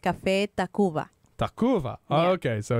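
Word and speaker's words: Café Tacvba: It's Old Spanish, and it's pronounced Café Tacuba. Tacuba. Oh, Yeah. okay. So it's just a U. You're using a V, but it's really just a U.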